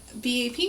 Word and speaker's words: BAP: of already went over, which is BAP. In the Korean, it is actually sounded out that way. First character is B, and then the second character is A, third character P.